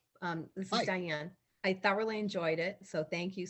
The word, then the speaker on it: Thoreau: con thank you um but i always said thoreau and you're saying thorough you're probably correct but i think that's interesting that the pronunciation that most of us probably learned in